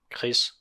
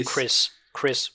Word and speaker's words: Kress: Directed by Anders Thomas Jensen, director of photography Henrik Kress, Kress. Am I pronouncing that correctly? Chris. Yeah. Chris. It's Chris, basically.